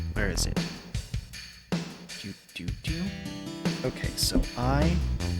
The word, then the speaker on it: Ifalna: Now, I can compare the different letters and discern that it is supposed to be an I-F-A-L-N-A, and it doesn't just have a random capital I in the middle.